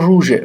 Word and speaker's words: روژ: همونجور روژه فکر کنم در زبان کردی روز روژ هست زا ژ تلفظ میشه مثلاً این دوستان ب یه ظرفی که ژیر بهش می‌گفتن مثلاً چه میدونم ژ همین ژی که شما در این کلمات دارید میبینید این در تلفظ زبان زیبای کردی ژ هست حالا ببینیم جا روژ